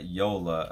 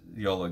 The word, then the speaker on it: Jola: This is Yola, I believe is how you pronounce the name, even though it's spelled Jola.